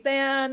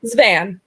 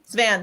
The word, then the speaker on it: Zvan: And then we went and did the other panel with Stephanie Zan. Is that how you say her name? Zvan, I think. Zvan, thank you.